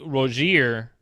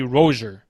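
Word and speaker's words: Rosier: But anyways, apparently we were pronouncing Malik Rozier wrong the whole time because it's technically Rozier.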